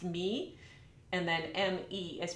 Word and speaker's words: mi: Now these syllables are Italian, so M-I is pronounced me, and then M-E is pronounced May, like the month of May.